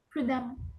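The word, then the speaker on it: prudemment: Prudamment. Premant. Bravo. Et là, exactement, on entend amant mais on écrit bien évidemment E2 MT.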